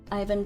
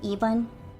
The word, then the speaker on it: Ivan: Uh I according to Dr. 86, the correct way to say it is Eban. Um like the canon way.